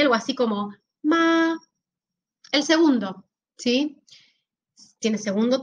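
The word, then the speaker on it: 麻: El primero, que tiene el número 1 porque es primer tono, significa mamá y se pronunciaría algo así como ma.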